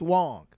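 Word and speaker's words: Wang: He confirmed the other day that his name is pronounced Wong.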